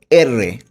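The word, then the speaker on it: erre: আর আর কে বলবো এররে। আর এর উচ্চারণ হবে এররে।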